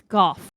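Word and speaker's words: Gogh: established the Vincent Van Go. I think it's Gooff. It is actually Gooff. I was like, I'm reading this over and over like I'm pretty sure it's not Go, it's Goff.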